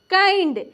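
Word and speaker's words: kind: के आई एन डी इस हम क्या पढ़ेंगे काइंड देखिए आई के जस्ट बाद अंतिम में क्या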